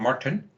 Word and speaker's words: Martin: We've got Mark Stokes, Martin Visser, or Martin, as he'd like me to pronounce his name, Martin. That's it, it's better.